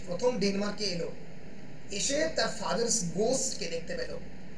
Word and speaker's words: denouement: Resolution means ডিনুমো, DENOUEMENT, pronounce হয় ডিনুমো বলে, French word, মানে গল্প শেষ হচ্ছে ম্যাকবেথের মৃত্যু দিয়ে।